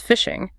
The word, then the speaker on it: phishing: The spelling distinguishes it as a cybercrime, but the pronunciation keeps the analogy perfectly intact.